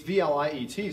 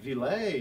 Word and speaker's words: Vliet: decades and generations ago, it's Vliet. So everyone tries to put like this French, like Villet or Villet.